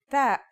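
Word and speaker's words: ت: The pronunciation is like the English T, except you should release your breath with a strong burst of air.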